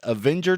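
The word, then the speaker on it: Avinger: And we're coming to you from that little trailer park, and I pronounce it as Avenger, Texas.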